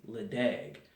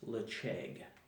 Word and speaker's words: Ledaig: bottle so it's spelled if you were to look at it phonetically in English or American Canadian English it would be ledee but in Scotland on the Isle of Mall depending on the accent it is lip shake or I've also red